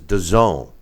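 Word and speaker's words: DAZN: yeah they for some reason they pronounce it Daz n is the way the the app is pronounces the zone they had about three different ways to say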